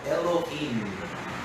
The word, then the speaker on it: Elohim: A pronúncia mais portuguesa, mas em hebraico, Elohim.